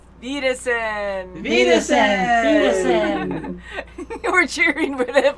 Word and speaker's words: Wiedersehen: Wiedersehen, if we're saying it right. Wiedersehen, yes. I love the spelling. I would never be able to spell it before because I never even thought about it.